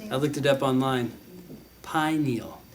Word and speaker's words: pineal: Pineal. Like pine needle, but no D. Yeah. Pineal. Thank you. Yes. Pineal. The pineal gland. Okay. So melatonin is produced by the pineal gland.